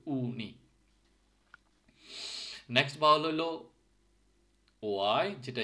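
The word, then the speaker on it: uni: Yuta কিন্তু উর মতো উচ্চারণ হচ্ছে উনি, ইউ না কিন্তু উনি।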